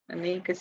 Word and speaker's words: Anikise: Anikise is how you say it, the frog.